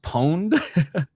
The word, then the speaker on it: Ponet: It's actually pronounced pon. Well, if he's French, it's pone, right?